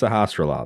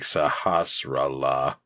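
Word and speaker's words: Sahasrahla: I was like, Sahasrara. Oh, okay. Yeah. So I mean, it's a lot of syllables, but they are, for the most part, pretty straightforward. Yeah, you can sound it out.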